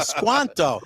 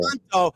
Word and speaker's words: Squanto: we think Mayflower time it's Quanto Quanto Quanto s n Squanto not Tanto some people are gonna say Tanto from uh Rogers yeah but in Italian